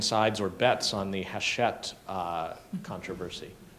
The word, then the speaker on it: Hachette: And if anybody's taken sides or bets on the Hachette controversy. Is it Hachette or Hackett? It's Hackett, isn't it?